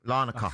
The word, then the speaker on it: Larnaca: Larnaca, that's how you say it.